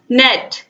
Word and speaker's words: gnat: Silent in the word नेट, GNAT। Right answer है दोस्तों option A, जी। जी क्या इसमें साइलेंट है, यानी कि इसको हम क्या पढ़ेंगे, नेट पढ़ेंगे, जी को साइलेंट रखेंगे।